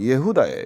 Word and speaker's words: 예후다: 유다라고 되어 있는데 이게 히브리식 발음은 예후다예요. 예후다인데 이게 이제 뭐 야다라고 하는 찬송하다, 기뻐하다 이제 이런 표현에서 나는데 이게 왜 그렇게 했어요?